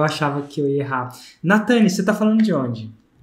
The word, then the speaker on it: Natane: Natane, acertei a pronúncia do seu nome? Acertou.